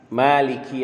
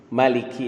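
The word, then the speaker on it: مالك: Kita mencoba berbagi catatan berkenaan dengan surah Al-Fatihah ayat keempat, Maliki Yaumiddin. Atau juga ada qiraah yang membacanya Maliki Yaumiddin. Baik mimnya dibaca panjang dengan alif maupun tanpa alif.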